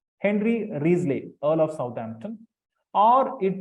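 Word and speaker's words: Wriothesley: h e s l e y it is pronounced riesley t-h-a silent Henry riesley Earl of Southampton or it could be William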